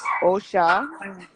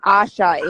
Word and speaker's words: Osha: She's like, oh, because I said Asha in the video, right? And then she's like, oh, you guys you don't even know how to pronounce the name good. So obviously it's okay. It's not Osha.